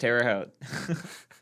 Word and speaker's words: Terre Haute: 6K over at uh Tara Terre Haute it's pronounced Terre Haute so we're gonna go Toledo woman uh they've